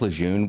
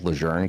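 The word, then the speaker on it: Lejeune: cuz they're like, it's kind of like Camp Lune was like formerly renamed to Camp Leern cuz the family said that's the proper way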